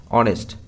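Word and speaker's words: honest: দেখো এটা আছে ডশ অনেস্ট অনেস্ট এর উচ্চারণটা দেখো প্রথমের যে লেটারটা আছে এটা সাইলেন্ট আছে ওকে তাহলে এটা যদি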